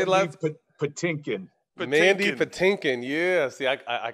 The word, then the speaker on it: Patinkin: Patinkin.